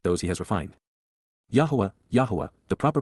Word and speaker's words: Yahowah: Yahowah, Yahowah, the proper pronunciation of Yahowah, God's personal and proper name